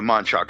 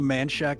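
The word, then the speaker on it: Manchac: Auntie Julia from the manock swamp did I pronounced that right not quite but it's all right it's called The manshack Swamp so it's pretty manack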